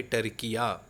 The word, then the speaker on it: Türkiye: अब इसका नाम हो चुका है टर्किया या तुर्किया, ये इस तरह बोलते हैं।